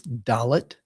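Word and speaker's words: דלת: And the next letter is dalot. And again this is like the English letter D as in day.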